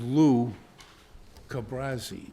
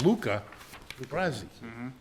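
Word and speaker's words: Luca Brasi: I remember I remember watching The Godfather a bunch of times and think thinking that it was Lou Cabrazi, but it was Luca Gabrazi.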